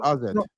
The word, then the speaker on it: AZ: AZ. No, it's pronounced RZ. I know, but why you? But that's for Dutch people. It's pronounced RZ, isn't it? That's just AZ. the proper pronunciation.